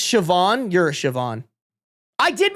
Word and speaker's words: Siobhan: In my defense, that is not how you pronounce Siobhan. The only thing The only thing that I would have guessed The only thing you got You didn't even get the sh right. The only thing you got right in that The only thing that's pronounced in that name is the A N.